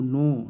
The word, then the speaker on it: know: डू मने क्या, यू मने आप, KNOW नो, नो मने जानना, KNOW, इसमें के साइलेंट रहता है।